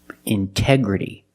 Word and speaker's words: integrity: Integrity. The stress is after the NT in these words. So we pronounce the T as a pure T.